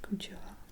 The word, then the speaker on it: Cultura: And these ones I think were really cheap too, and they're from a shop called Cultura, pronounced Cultura in French, and it's like their basic line, so it was really like less than €2 too.